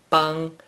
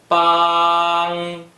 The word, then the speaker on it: 傍: Bang is the first tone. Please pronounce it after me. Bang bang bang bang is the fourth tone.